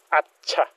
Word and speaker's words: hatsa: Ang tamang pronunciation, hatsa. Pero sa Bohol, atsa.